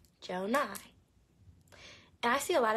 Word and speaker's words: Jonai: My real name is Jonai. Jonai. And I see a lot of people spell it J-O-N-I-A.